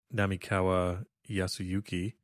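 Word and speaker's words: 並河靖之: enamel we spent the entire episode talking about nami kawa yasuyuki and i ended up mispronouncing his name early on in the show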